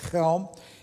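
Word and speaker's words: Chełm: that's circled there it's helm you we would it's it's spelled c-h-e-l-m if you would so we would say chelm in polish at helm and i i i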